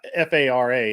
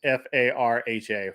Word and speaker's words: Farha: but it's not Fara, it's Farha, Farha.